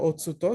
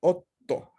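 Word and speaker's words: おっと: me dice a mí, la regla es que no voy a leerla, pero sí voy a hacer que la primera consonante de la sílaba siguiente a tsu, al pequeño tsu, sea leída una especie como de doble, ¿no? O sea, o, tsu, to, pues no la leo o, tsu, to, sino o, to, porque duplico la T de la sílaba to.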